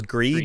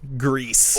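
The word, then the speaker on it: Gris: It's a hard S. Okay, because in French, I just now realized from listening to them that they're Spanish, but I always thought it was French because it's gray in French, but you don't pronounce the S. Anyway, Grease in Spanish, you do pronounce the S. Grease.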